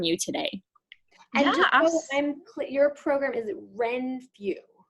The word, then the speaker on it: Renfrew: can learn from you today your program is wren few renfrew it's a bit of a tongue um twister it's spelled r-e-n-f-r-e-w when through yes okay wonderful and